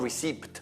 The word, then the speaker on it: receipt: Non receipt poi, perché receipt scritto col P, you don't pronounce the P.